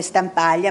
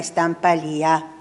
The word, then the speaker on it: Stampalia: Attenzione all'accento, come Stampaglia, ma è Stampalia. Questi sono gli accenti corretti.